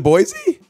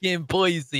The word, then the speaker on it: Boise: boys idaho i don't know how do you pronounce boys boise is it boise isn't it it's not boise dude alexa pronounce